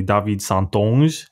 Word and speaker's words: St Onge: his name is actually david santon and that's how you pronounce it in french yes i'm saying get